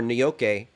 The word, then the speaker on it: gnocchi: rob shaffer chimes in gnocchi pronounced new york or nyoke is potato dumpling very